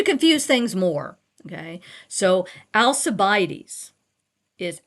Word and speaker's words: Alcibiades: So Alcibiades is Alcibiades. Okay? That C in the Latin is really a K. Okay? But we pronounce it now like an S.